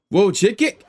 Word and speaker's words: Wojcicki: The CEO of YouTube, Susan how you pronounce her last name? Wojcicki, Wojcicki, is apparently stepping out.